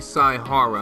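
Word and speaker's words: Saihara: ] newly man I'm smart I'm smart Shuichi sigh Hara I knew I pronounced that right they call me the ultimate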